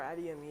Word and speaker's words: Adeyemi: So Adeyemi, am I pronouncing your name correctly first off? Yes, you are. Adeyemi, yeah.